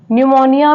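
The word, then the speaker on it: pneumonia: next word है न्यूमोनिया न्यूमोनिया में जो पी है वो यहां पर साइलेंट है नेक्स्ट वर्ड है न्यूमेटिक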